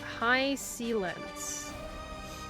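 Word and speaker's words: Hysilens: They pronounce her name in-game as High Sealence.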